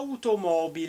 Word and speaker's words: automobile: même manière en français en italien on prononce à automobile est tu peux le faire en même temps que moi à automobile est le haut est soulignée car c'est la place de l'accent c'est une langue musicale